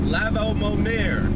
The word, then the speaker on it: Lavamonir: You know, if you didn't know how to say his last name, that's how you say it, Lavamonir.